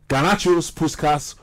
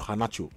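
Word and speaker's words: Garnacho: technically good players Eric all here Alejandro um gacho whaty go thank you very much actually Alejandro kanach let's get it right actually cuz I I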